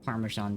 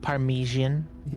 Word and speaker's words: Parmesan: At least say it right. Parmesan cheese. It's par It's parmesan. Parmesan cheese. It's parisan. That it's not Parmesian.